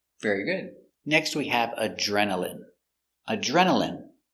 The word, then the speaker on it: adrenaline: Next we have adrenaline. Adrenaline. Remember, ine here is pronounced in. Adrenaline.